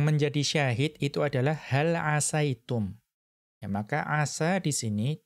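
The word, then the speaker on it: عسيتم: Nah, kita melihat tidak dibaca asitum, tetapi dibaca asaitum. Kemudian kita melihat faqad qara'a Nafi'unil Madaniyyu bikasris sini. Ya, ada salah seorang dari qurra, salah seorang dari imam qiraah, itu membacanya dengan mengkasrohkan sin. Siapa beliau? Yaitu Imam Nafi' al-Madani rahimahullahu ta'ala. Beliau membacanya dengan mengkasrohkan sin. Berarti hal asitum.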